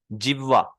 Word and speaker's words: जिह्वा: यहाँ पे ह पहले फिर व, जिह्वा।